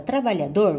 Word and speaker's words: trabalhador: Quando você pronuncia a palavra trabalhador, você pode observar que a última sílaba também você pronunciou com maior intensidade.